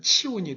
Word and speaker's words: 시온: 치온 그래서 치운과 시온 시온을 히브리 말로 발음하면 치온이 됩니다 치운 신을 섬기던 여부수